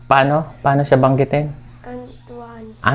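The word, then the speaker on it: Antoine: Antuan Antuan Ah okay.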